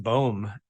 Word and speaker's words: Boom: became the Third Doctor boom this year I think it's a really cool name my wife's not so sure it actually is Flemish in origin my parents are from